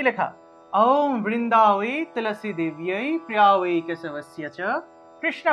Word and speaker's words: ওম: হয়ে যায় আমাদের এই ওম উচ্চারণের নিয়ম হলো মুখটা একদম বড় থেকে ছোট হবে অর্থাৎ মুখটা একদম হা হয়ে থাকবে তা যেহেতু আমাদেরকে মুখটা একদম বড় করতে হবে সেহেতু মুখটা বড় করলে আসলে আ উচ্চারণটা আসে সেজন্য আমরা আ দিয়ে আরম্ভ করব ওম ঔম এভাবে তাহলে ওম বৃন্দা বৃন্দাবই